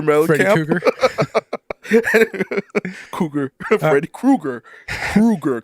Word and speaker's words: Krueger: You said Cougar. Cougar? Like John Cougar Mellencamp? Freddy Cougar? Cougar. Freddy Krueger.